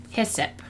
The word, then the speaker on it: hyssop: Okay, say it like hip. Hyssop. Hyssop?